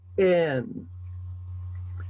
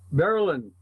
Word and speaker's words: Berlin: And Well, in Ohio, there's a town spelled Berlin. How would you pronounce it? Berlin. Berlin. No, it's Berlin. Berlin. In Wisconsin, they have the same town. They still call it Berlin also.